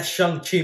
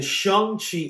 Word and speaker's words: Shang-Chi: Man, that Shang-Chi movie looks awesome. I can't wait to... Idiot! Stop What? saying the Shang-Chi. It's Shang-Chi.